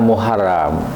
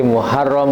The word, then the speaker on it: Muharram: Ejaan Arabnya adalah Muharram. Ya. Ini adalah dialek, oke? Sebuah dialek. Jadi Muharam, Muharram.